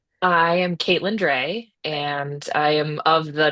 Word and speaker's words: Drey: So, can you tell what is the correct way to pronounce your last name? I am Caitlyn Dre and I am of the northwest Iowa Dre by marriage.